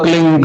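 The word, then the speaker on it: क्लीं: एक शब्द क्लीन शब्द के आधा ला में मिला हुआ, बड़ी की मात्रा और बिंदी, उसका उच्चारण होगा क्लिंग गा की ध्वनि निकलेगी पीछे।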